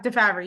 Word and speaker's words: DeFabry: Yeah, DeFabry, you got it.